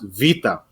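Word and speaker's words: βήτα: he told me that in Greece it is pronounced Vita and I can't argue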